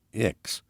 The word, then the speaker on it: ICCS: transferred to the iccs short for intertribal community charter school and pronounced ix i really thought things